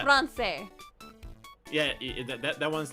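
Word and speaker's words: Français: Says, pronounce it like an S. Francais.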